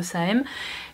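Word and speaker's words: Saem: Bon, ça s'écrit S-A-E-M, donc je suppose que c'est The Same.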